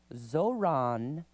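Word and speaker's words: Zohran: Mamdani's name, correctly pronounced Zoran, and Ron, emphasis on the second syllable, Zoran Mamdani, was frequently mangled as he rose to political prominence.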